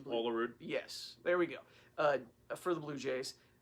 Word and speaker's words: Olerud: Olerud.